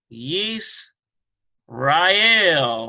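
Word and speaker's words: ישראל: Yis, Rael, or Israel.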